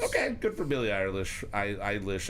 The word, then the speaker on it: Eilish: Eilish. I can never say her name without saying Irish. It's just... Billie Irish.